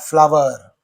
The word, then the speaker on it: flower: Which of these is a homophone of flower? What's the pronunciation of this one? Flower. Flower mill. Don't say floor. This is floor.